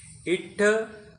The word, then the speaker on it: इट्ठ: इट्ठ हलंत करना, अ बाहर निकालना।